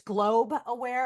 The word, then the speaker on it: Globe Aware: don't mind me is it's globe aware and so many people make that we've tried to buy global aare um but it's always been three syllables and it's everyone everyone always calls it global.